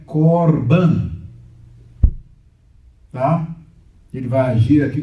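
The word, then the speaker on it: קָרְבָּן: Daí, quando eu leio aqui, eu não posso ler carban, porque tem um kamatz em sílaba fechada, átona. Então é korban.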